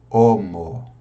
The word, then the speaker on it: homo: Aí você não pronuncia, o H é mudo, homo, tá?